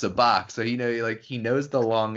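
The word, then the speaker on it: Sabacc: And then they flip it around too later on the pronunciation of Sabak versus Sabak. And Han I think says it's Sabak, which would be the same type of A that is in Han.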